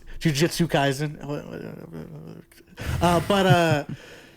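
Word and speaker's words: Jujutsu Kaisen: This isn't actually I say Juju Kaizen. That's not It's Jujitsu Kaizen.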